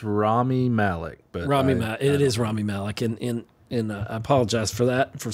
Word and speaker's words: Malek: I think it's Rami Malek, but It is Rami Malek, and I apologize for saying that wrong.